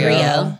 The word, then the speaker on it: Grio: Grio.